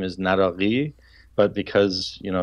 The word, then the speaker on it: Naraqi: The Q, which is the transliteration of that letter, is K. So it's Naraqi or Naraqi or Naraqi.